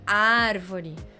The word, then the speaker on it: árvore: de trás para frente ar é a sílaba mais forte como que eu sei porque a pronúncia da palavra é árvore não é árvore e